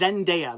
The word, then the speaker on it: Zendaya: name though Zen zendaya Arnie her name is zendaya there you go so Zen day uh yeah